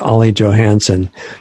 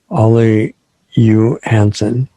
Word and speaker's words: Olle Johansson: In the English American way, it's Olle Johansson, but that's completely wrong, as we found out during the show. And I'm probably not going to be depressed enough to say it correctly, but it's something like Olle Johansson. Anyway, that's closer.